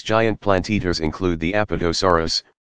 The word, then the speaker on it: Apatosaurus: called sauropods these giant plant eaters include the Apatosaurus pronounced a pas de sa w R Us used to be called brontosaurus and Brachiosaurus pronounced